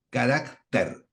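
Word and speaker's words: χαρακτήρ: es carácter, con K, carácter, carácter. De allí, obviamente, obtenemos la palabra carácter. Tienen distintos acentos. Carácter con K y con acento en la E, y carácter con acento en la A.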